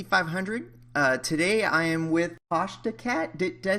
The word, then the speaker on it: Tashdacat: Today I am with Tashdacat. Did I say that right? Good. No American gets it correctly. It's Tash. It's due Tashdacat? to the way Australians and English pronounce A's.